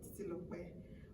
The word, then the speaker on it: Titilope: But the tribal name, Titilope, the Titilope, you might be feeling that there's K there because of, but there's no K, it's just P, we call P, like KP.